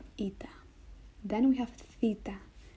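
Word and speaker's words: Θήτα: it then we have Theta Theta Theta is like the th H sound and the word thank you like thanks th Theta th th then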